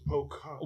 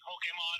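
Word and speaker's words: Pokémon: It was Pokemon.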